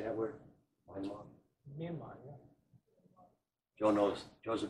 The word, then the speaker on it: Myanmar: Myanmar, yeah. Joe knows. Joe's a better pronunciator.